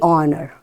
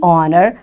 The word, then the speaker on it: honor: is the wall sound the honor you got it and we say the honor because the h is silent here as followed by a wall oh right this is